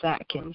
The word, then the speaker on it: Atkins: Or is it Atkins or Akins? How do you say that? It is Atkins, yes.